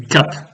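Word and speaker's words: כף: On dit kap en prononciation égyptienne. Or, c'est kaf en hébreu.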